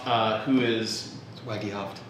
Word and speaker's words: Wagehoft: Project uh today I am joined by Corey wof uh who is Waggy hoft Waggy hoft how would I not it's spelled I'm going to put his name here